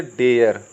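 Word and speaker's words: dare: या सरे पढ़ेंगे, या डरे पढ़ेंगे, या डी ए आर ई लिखना है, इसको क्या पढ़ेंगे? डरे पढ़ेंगे क्या? या एम ए आर ई को क्या पढ़ेंगे? मरे? नहीं, ये सब होते हैं गलत प्रोनाउंसिएशन।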